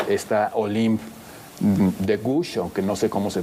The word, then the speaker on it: de Gouges: autora de Frankenstein, por cierto, y esta Olympe de Gouges, aunque no sé cómo se pronuncie, Sergio me va a corregir con su maravilloso francés.